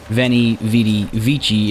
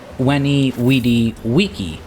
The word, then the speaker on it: Veni, Vidi, Vici: Not just because I'm probably butchering the incorrect pronunciation myself, but it's actually Veni, Vidi, Vici, because, well, that's classical Latin.